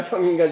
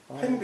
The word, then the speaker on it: 衡: 합종 횡인가 형인가 잘 모르겠는데 횡이라고 읽어야 돼요. 횡이라고요? 예. 이때는 세로 종자, 가로 행자. 횡으로 읽어요.